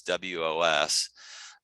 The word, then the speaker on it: Wos: some people pronounce it VOS, some people pronounce it WOS, it's WOS.